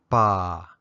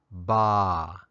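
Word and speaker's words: ပါ: It's sometimes pronounced ba, but more often ba, depending on the sound of the preceding syllable.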